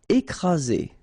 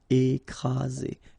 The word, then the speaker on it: écraser: Écraser. Okay, double vowel, only one S, Z, and then you've got the first accent aigu, écraser. Écraser.